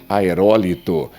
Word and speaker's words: aerólito: Por exemplo, o certo seria aerólito. E olha só, o acento está aqui.